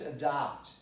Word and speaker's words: adopt: You're supposed to produce it very clearly. It's not adopt or adopt, it's adopt. Then you know that this O is an A. You spell an O, but you pronounce an A, the most open vowel, A.